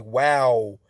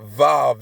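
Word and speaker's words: Waw: So it's not Vav, it's wow.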